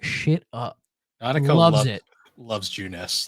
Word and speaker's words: Junes: Well, because then you get to the commercial for Junes, which Junes, it's spelled Junes, just June with an S, but it's pronounced Junes.